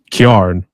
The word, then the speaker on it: Kyarn: the terminology they said it's karn apparently another word for carrying yep it's an appalachin slang term for carrying if it's a metal